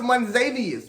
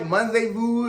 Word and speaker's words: Monzavous: My name is pronounced Monzavius, but it looks like Monzavu, it looks like Monzavus.